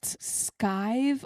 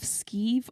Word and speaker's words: skive: But anyway, so can you explain what skive off, skeeve off? Yeah. How do you say Skive, yeah, that was right first time.